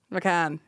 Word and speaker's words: McCann: McCann. McCann. I said McCain like fucking John.